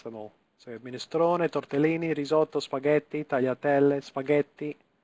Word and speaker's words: minestrone: So minestrone, tortellini, risotto, spaghetti, tagliatelle, spaghetti, again cannelloni. One more time, okay, minestrone, so we're pronouncing every letter. Minestrone, we're pronouncing the E at the end.